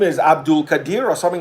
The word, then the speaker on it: Abdulkadir: Abdulkadir. Hope it's pronounced that Yes, way. Abdulkadir.